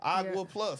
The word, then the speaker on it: Agua Plus: Now, how you pronounce this again? Agua Plus, right? Yeah.